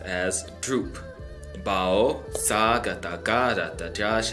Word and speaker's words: བསྒྲུབས་: okay and so this word ends up getting pronounced as droop Bao saga tagada da Josh a tutu pasa